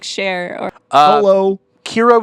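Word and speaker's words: Qi'ra: Kira with a Q.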